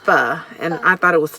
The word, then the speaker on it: Pho: it's pho but but it's pronounced fuh and I thought it was faux anyway so but faux